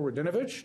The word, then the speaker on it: Radinovich: To my immediate left, from Crosby, District 10B, Representative Joe Radinovich. Did I pronounce that right?